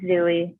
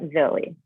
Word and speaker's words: Zooey: breath and it's pronounced zooey not zoey and could be fair zoo is in his name not zou it's not rocket science